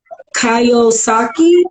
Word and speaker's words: Kiyosaki: Now, Robert, I think his name is pronounced Kiyosaki.